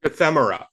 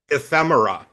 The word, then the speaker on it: ephemera: How do you pronounce this word that's just like paper stuff? Ephemerra. What is it? Ephemerra.